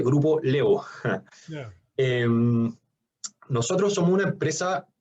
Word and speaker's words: Grupo Laevo: Se escribe Grupo La Evo, se dice Grupo Levo.